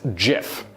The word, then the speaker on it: GIF: Now, according to Willite, GIF should be pronounced with a soft G, sort of like in the word giraffe, meaning that it's pronounced GIF.